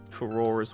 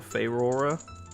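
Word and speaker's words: Farore: Nehru's Love, and Ferora's Wind, or Feyrora. I've heard it pronounced a million different ways.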